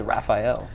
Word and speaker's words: Rafael: listen guys I mean I know that there's that culture in MMA or in jiu-jitsu to pronounce it like that but it really very much is Raphael yeah 100% in fact